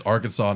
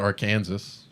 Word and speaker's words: Arkansas: oh we have also it's not it's arkansas not our kansas yeah like how the